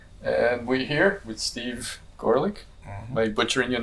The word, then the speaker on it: Gorelick: I do get garlic, yes, and then Gorelick. Some people do pronounce it that way.